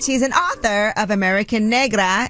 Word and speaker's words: Negra: but also an author let's not forget that Negra is that am I saying it right you're